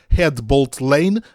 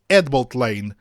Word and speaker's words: Headbolt Lane: da nossa Rede Ferroviária escreve-se head Bolt Lane mas pronuncia-se hbt Lane saiu sopra do H